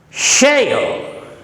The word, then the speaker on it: share: This word must be pronounced as sha. Sha. It will come later. I use now. This is sha. In spelling sh. Share.